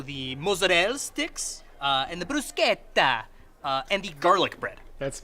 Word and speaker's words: bruschetta: mozzarella sticks, and the bruschetta, and the garlic bread. That's me. You mean bruschetta? Yeah, bruschetta. Why are you saying it that way? That's how it's supposed to be pronounced.